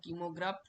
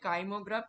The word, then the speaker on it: কাইমোগ্রাফ: তাহলে আমাদের দ্বিতীয় প্রশ্নের উত্তর হয়ে গেল কাইমোগ্রাফ বা কিমোগ্রাফ। এটাকে কাইমোই বলবেন, উচ্চারণটা হচ্ছে কাইমোগ্রাফ ট্রেসিং। পরেরটাই আসুন, দেখুন ওষ্ঠ স্বরধ্বনি কি বা কোনটি?